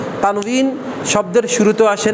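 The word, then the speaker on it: تنوين: এক্ষেত্রে অনেকে এটাকে তানবিন লেখে, আসলে উচ্চারণটা হবে বাংলিশ লিখলে সুন্দর হয়। এই তানউইন, তানউইন, তানউইন। কেমন উচ্চারণটা কি হবে? তান, ওই যে ওয়ান নিচে জেদ দিলে কি হয় দেখাইছি আপনাদেরকে, ওয়ান নিচে জেদ দিলে উই হয়। কেমন? ওয়ান নিচে উচ্চারণ দিলে বি হয় না, ওয়ান নিচে উচ্চারণ দিলে উই হবে। তাহলে তানউইন, তানউইন।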